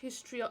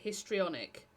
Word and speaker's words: histrionic: Uh do you think social media rewards histrion? Am I pronouncing it correctly? Histrionic. Yeah, because or he's trying